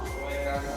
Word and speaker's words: Soekarno: Soekarno tapi namanya Soe Karno. Heeh. pakainya o ee tapi dibacanya U.